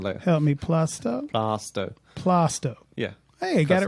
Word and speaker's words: Plaistow: We get pronunciations later. Help me, Plaistow? Plaistow.